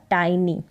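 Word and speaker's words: tiny: आई को आई पढ़ेंगे यहां पर टिनी करके इसको ना पढ़े इसका उच्चारण होगा टाइनी क्या है टाइनी यहां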